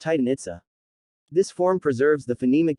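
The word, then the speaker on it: Itzá: on their final syllable other references prefer the maya orthography chichen itza pronounced itsa this form preserves the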